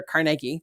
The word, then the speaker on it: Carnegie: president of Harvard um Carnegie Andrew Carnegie or Carnegie depending on your pronunciation became aware of this